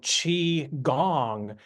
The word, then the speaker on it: qigong: or cultivation on a high level and so chi gong means we're cultivating our energy at a very